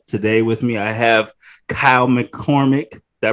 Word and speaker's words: Kyle McCormick: Today with me, I have Kyle McCormick. Did I pronounce that correctly?